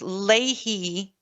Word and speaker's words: Leahy: I think correct pronunciation is Leahy law.